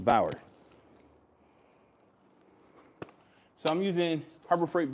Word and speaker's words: Bauer: So the polisher I'm using today, it's a Bayer. Bayer? How do you say that? Someone chat. How do you say Bayer? Is it Bayer? Bauer? It's a Bauer.